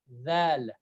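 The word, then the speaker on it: دال: This letter is pronounced as Dal. Like I'm touching my front of my tongue to the top, lower to top teeth. It's like Dal.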